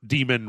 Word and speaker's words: daemon: It's like when you get a message from a mailer, demon returned, blah blah blah blah, yeah, okay. right? Daemon, but it's pronounced demon.